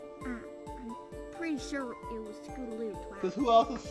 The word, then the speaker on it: Scootaloo: Scootaloo's not a thief, Twi. You gotta Wait. believe me. You gotta help her. Promise. Wait, hold on. She said her name wrong. She said Toodaloo. Her name is Scootaloo.